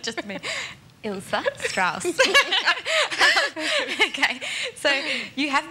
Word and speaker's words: Ilse: to toot your horn a little bit now Isa has been described my goodness my sincere apologies we were having a joke earlier on the show that pronunciation it's not just me ilsa stra okay so you have been described as